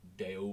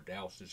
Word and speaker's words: D'Astous: And Charlie Edouard Daul, or Daustis, however you want to pronounce his last name, he has been absolutely